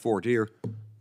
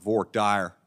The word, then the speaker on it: voir dire: Most parts of the country, we we call that voir dire. Only in Texas they call it voir dire. I don't really understand the difference in pronunciation, but Texans, they do things their own way.